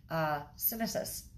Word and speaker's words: synesis: So the other one we're going to talk about is synesis. Sounds like Genesis with an S.